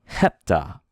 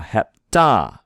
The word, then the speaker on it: hepta: And the stress should be on the ta, hepta, right? Hepta. And we have two vowels, so we have two syllables, hep and ta. Now, when you have two consonants together, almost always one will go with one syllable and one with the other. We wouldn't say he-pta, right? We'd say hep-ta.